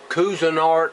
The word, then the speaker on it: Cuisinart: iron pot I bought at the flea market Cuisinart I'm gonna try to pronounce that right Cuisinart c-u-i-s-i-n-a-r-t thought that part